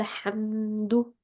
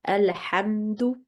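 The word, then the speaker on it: الحمد: So we would read that as Qala alhamdu. Whereas if we need to make a pause here, for example, you would say Qala, then the alif would be read. That will be to a maftuh letter, and then in this case you would start with alhamdu.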